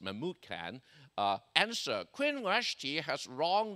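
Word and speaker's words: Memucan: One of his 7 chief councilmen, named Mahmud Khan, well, you have different pronunciation accent, but I pronounce it Mahmud Khan, answered, Queen Vashti has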